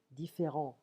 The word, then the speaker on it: différent: Different, différent. We don't pronounce the T in French.